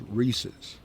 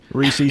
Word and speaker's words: Reese's: Here's the thing because it rhymes with pieces. It doesn't. Okay, all right. Well, here's the thing. Reese's Pieces, it does too.